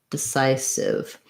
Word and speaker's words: decisive: in this word again starting with your stressed syllable sigh decisive decisive may help you to